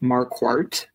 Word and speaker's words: Marquardt: its atmology um so my last name is pronounced markart okay um and what